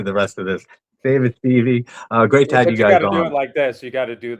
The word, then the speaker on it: Stieve: David Stev. Stevie. Two first names.